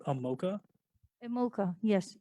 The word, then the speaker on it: Mocha: first apps name a mocha mocha yes e mo CH a is like the chocolate muchas muchas because I love chocolates but it's a mocha the way you pronounce it right okay thanks and